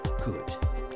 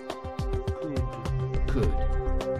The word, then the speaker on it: could: Le passé de can se dit could. Could. I can, je peux. I could, je pouvais ou j'ai pu. I could. Could. Could s'écrit C-O-U-L-D, mais le L ne se prononce pas.